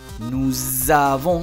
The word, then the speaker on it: nous avons: J'ai, tu as, il a, elle a, nous avons, se pega la S con la A, cepillado, nous avons.